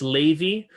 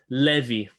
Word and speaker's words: Levi: lazy different different pronunciations according to the ashkenaz pronunciation it's levy according to sephardic pronunciation it's levy okay okay okay good